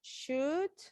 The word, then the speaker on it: should: And you Should. never pronounce the letter L.